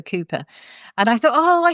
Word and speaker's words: Cowper: called Cooper, but actually it's spelt Cowper. So lots of people call him Cowper, but actually he's a Cooper.